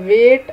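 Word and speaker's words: weight: तो यहाँ पे द वेट ऑफ the seizures was too much for the child to carry. तो आपने देखा कि वेट जो है उसमें जो है जी एच जो है वो साइलेंट है।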